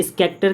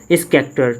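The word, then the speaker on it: Schachter: ठीक है, अब आगे अगर हम बात करें स्कैक्टर का, तो अभी हम लोग इमोशंस की थ्योरी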